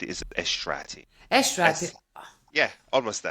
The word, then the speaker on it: Eshrati: one of those um um difficult suram to pronounce right if you want to get it right is esrati estra yeah almost there esrati yes almost there oh my God so many